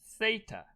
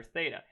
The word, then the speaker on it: theta: a greek letter called theta theta not theta okay this is the greek letter theta and we use this